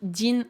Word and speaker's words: 人: On a hito, ici qui est prononcé jin, effectivement c'est bien le kanji de hito qui veut dire une personne.